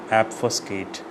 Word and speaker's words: obfuscate: Pronunciation, obfuscate. We do not pronounce O as an O, we pronounce O as an A, obfuscate. Mnemonic, how do we remember this word for a longer time?